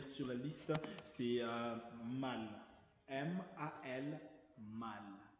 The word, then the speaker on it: mal: M-A-L, mal.